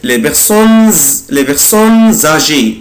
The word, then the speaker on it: les personnes âgées: خدوا بالكم أنا هنا نطقت الاس زد les personnes âgées les personnes هنا نطقت الاس زد.